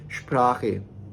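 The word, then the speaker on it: Sprache: Sound होगा वो होगा, यानी कि यहाँ पे एस का साउंड होगा श, और इसके साथ पी मिलाएंगे तो हो जाएगा शफ।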